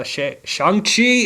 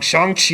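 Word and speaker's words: Shang-Chi: about loki really really soon and then uh shanxi in the legend of ten rings will be coming out yeah yeah yeah i'm gonna keep saying it wrong shang chi in the legend of the ten rings that's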